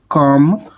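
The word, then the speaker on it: calm: इसके अलावा सी ए एल एम, इसमें एल साइलेंट है तो ये बच्चों हमारा काम वर्ड बन गया।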